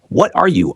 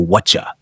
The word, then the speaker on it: whatcha: What are you often reduces is all the way down to whatcha.